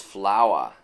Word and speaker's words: Flowa: Not Floa? No, it's Flowa. Like a flower.